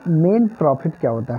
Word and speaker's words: mesne: दोस्तों आज जानेंगे हम लोग कि मेन प्रॉफिट क्या होता है। इसको कभी कभी प्रोनाउंसिएशन कर देते हैं कि मिसिंग प्रॉफिट। मिसिंग प्रॉफिट नहीं होता, मेन प्रॉफिट होता है।